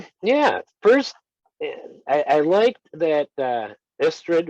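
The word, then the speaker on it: Istredd: First, I liked that Istrid, or Istrev, as the book pronounced it, because the double D in Welsh, which is what the Elder tongue is based on, is a TH sound, like in the word the.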